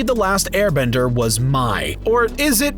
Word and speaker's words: Mai: surrounding her character because on paper people don't necessarily understand the pronunciation of her name but if after a couple of watches i'm sure you'll pick it up as may like the month of may mainzuka are the main